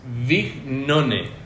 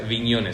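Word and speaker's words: Bignone: Viola, después de Videla, Viola, después Galtieri y después Vignone, o sea, Vignone, se escribe Vignone, como suena, V-I-G-None. Esos van a ser los gobernantes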